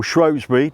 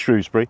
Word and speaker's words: Shrewsbury: Today I'm in Shrewsbury. Uh, it or Shrosbury, depends where you're from, how you say it, but if you want to say it correctly, it's Shrewsbury.